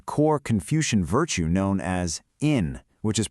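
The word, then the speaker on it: 인: This feeling is actually rooted in a core Confucian virtue known as in, which is pronounced in Korean.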